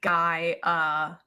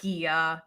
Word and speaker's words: Gaia: It's Gaia, like Gaia. Not Gia. It's Gaia.